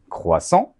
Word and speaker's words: croissant: today i'm going to teach you how to pronounce croissant croissant you know the one you have with coffee